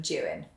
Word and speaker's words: Juan: Jan a jagged Kia you may not be familiar with the name Jan it's the mans translation of John and it's spelled j u a n it actually looks a little bit like the Spanish name Juan but it's not as waro Doan a